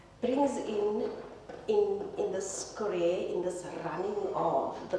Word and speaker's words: currere: So, he actually terms uh or he calls it currere. Ooh, I must pronounce it properly. Currere. Um and he says currere. I used to say currey, but now that I discovered it's currere.